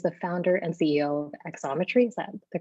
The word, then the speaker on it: Xometry: and he is the founder and ceo of exometry is that the correct pronunciation it's perfect geometry like obviously yeah perfect